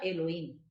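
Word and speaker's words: אלהים: Cuando está la palabra Dios, se está refiriendo a la naturaleza divina, si la podemos decir así, que en hebreo se pronuncia Elohim.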